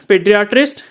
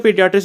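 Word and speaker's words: podiatrist: ऑस्टिपैथ के बाद फिर आपका हो गया कीरोप्रैक्टर, फिर नेक्स्ट यहाँ पर पेडियाट्रिस्ट, ठीक है, पोडियाट्रिस्ट भी बोल सकते हो, पेडियाट्रिस्ट भी बोल सकते हो, पेडियाट्रिस्ट इसका सही प्रोनाउंसिएशन है।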